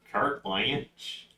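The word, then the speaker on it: carte blanche: then in general though did I not pronounce that right no you pronounced it right I think cart cart blanch cart blanch we're not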